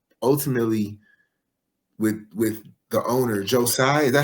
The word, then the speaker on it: Joe Tsai: Ultimately, with the owner, Joe Tsai, is that how you pronounce his name, right? Mm-hmm. Joe Tsai.